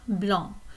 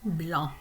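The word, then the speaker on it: blanc: in French so BL so if we wanted to have white wine we could say van BL and notice that the C is silent at the end of that um okay you could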